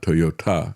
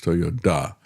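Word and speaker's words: Toyoda: Toyota, and actually in English, his name is spelled with a D instead of a T. It's not Toyota, it's Toyota.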